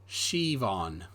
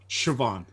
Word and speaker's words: Siobhan: Briscoe says SI is pronounced she, like Siobhan is Siobhan. Siobhan.